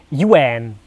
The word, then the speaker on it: Ewan: Das hier kommt jetzt von Ewan, 13 Jahre alt, und der hat dazu nochmal geschrieben, korrekt wird Ewan ausgesprochen, Yuan.